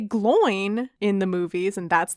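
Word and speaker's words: Glóin: They might say Gloin in the movies, and that's the pronunciation I'm going with.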